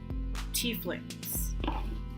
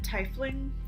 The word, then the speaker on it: Tiefling: And we're going to start with my absolute favorite race to play, Tieflings. I mean, who doesn't like a good tiefling? Oh, wait a second. Good. Or is it Tiefling?